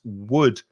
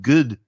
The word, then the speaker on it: wood: with with my experience some spanish speakers try to introduce a g sound at the beginning like it sounds like good to me sometimes instead of using the mouth and the lips to just do wha wha they're coming from the throat like argantha and they're